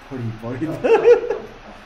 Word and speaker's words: buried: buried 찾아보니까 혹시 얘가 나오지 않던가요? 버리 버리 그렇죠. buried라고 읽고요.